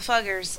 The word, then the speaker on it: Fugger: Um, if I get phone calls about the fuggers, I'm going to tell them that I told you that it's pronounced fuggers.